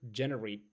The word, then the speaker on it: generate: Now, let's go for the other word here, generate, the fifth word. Generate the first is stressed and they it's a verb actually, means to produce or make something, okay?